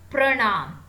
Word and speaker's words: परिणाम: परिणाम, तो इसका उच्चारण सही से करिए। र में छोटी की मात्रा है, देखिए परिणाम।